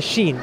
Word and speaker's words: Sheen: starting with the letter Sheen. Sheen is like, you know how you pronounce Sha? It's like, you know how you have the alphabet? It's a letter, Sheen.